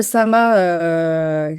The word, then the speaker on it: SAMHA: Donc c'est vrai, le SAMA, qui s'écrit S-A-M-H-A en acronyme, parce qu'on a tendance à se tromper.